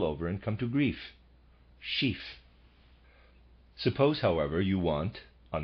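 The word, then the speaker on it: schief: describe the object as chief parentheses a slant on the inclined closed parentheses footnote sheaf pronounced like the word chief is the word used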